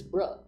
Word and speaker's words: brah: You say it wrong. It's not bro. It's bruh.